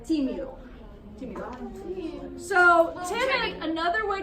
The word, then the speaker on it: tímido: Did you put the accent on the wrong eye? No, it's on the first one. Tímido.